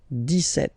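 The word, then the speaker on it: dix-sept: But then for the pronunciation, 17.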